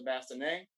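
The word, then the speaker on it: bascinet: of helmet is a bassinet that's spelled n e b-a-s-s-e-n-n-e-t but the t is silent here's an explosion of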